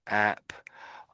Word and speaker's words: apparatus: So at the beginning I'm saying app. You know on your phone you have dozens of apps. So that's what I'm saying at the beginning. So I'm saying apparatus. Apparatus. Something like that. Apparatus. Yeah. Apparator. That's it. That's it. Well done. There is another way of pronouncing it. But this that's the most common way I would suggest.